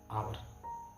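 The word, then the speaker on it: hour: ओ आर इसे अगर आप हावर पढ़ते मान लो तो यहां पर एन का इस्तेमाल किया जाता सॉरी ए का इस्तेमाल किया जाता पर यहां पर आप पढ़ के आ रहे हैं आपका जो उच्चारण है यहां पर वो होगा आवर इसलिए यहां पर एन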